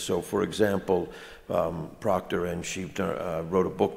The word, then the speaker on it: Schiebinger: Proctor and his wife, I never can pronounce her last name. How do you say it? Schiebinger, Landa Schiebinger.